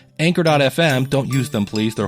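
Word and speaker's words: Anchor: So, starting a podcast or if we actually used the company that rhymes with canker that everybody loves, Anker.fm.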